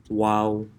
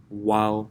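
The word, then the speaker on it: و: the incomplete meeting so the space in between your lips is what where the letter wow is pronounced from wow wow you will have to stick out your lips a little bit wow to pronounce it we form a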